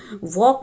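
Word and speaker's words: walk: कुछ alphabet silent होंगे जैसे वॉक वॉक में आप देख रहे हैं की एल की आवाज़ नहीं ए रही है तो यहां पे वॉक में एल साइलेंट है स्ट्रेट स्ट्रेट में आप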